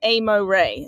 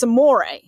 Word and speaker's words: Amore: So I watched her all summer when my racehorse had her, and we got all the works, and it was Amo Ray, is all everybody says. It's Amore, like love.